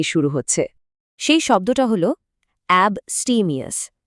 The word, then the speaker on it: abstemious: সেই শব্দটা হল বস্টিমিয়াস। উচ্চারণটা মন দিয়ে শুনুন।